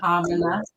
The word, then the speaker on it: Amina: And so, Sister Amina, am I pronouncing that right? It's Amina, Amina.